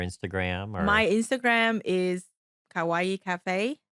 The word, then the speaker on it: Kawaii: My Instagram is Kawaii Cafe. You spell it exactly like Hawaii, just with a K 203, and that's my social media.